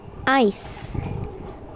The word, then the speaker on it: ice: Next, ice. Ice. The correct answer is ice, as in a cube of ice. The main difference is that ice has an S sound and eyes, as in what we